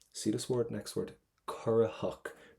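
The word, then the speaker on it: corraitheach: See this word, next word, currahach. Do not pronounce the letter T because there's a shevu after it.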